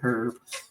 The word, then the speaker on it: herb: I hate when people say herb. The H is silent.